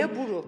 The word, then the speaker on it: gilaburu: Bu arada gerçek telaffuzunu öğrendim. Hep yanlış telaffuz yapıyorum. Gila buru gila buru.